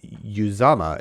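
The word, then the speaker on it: Uzomah: three points and five stars on to cj uzama is how you pronounce it from his mouth literally uh really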